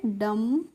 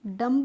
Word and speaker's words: dumb: तो DUMB को हम क्या पढ़ेंगे, इसको हम पढ़ेंगे डम। डम्ब नहीं पढ़ेंगे, क्या पढ़ेंगे, डम पढ़ेंगे।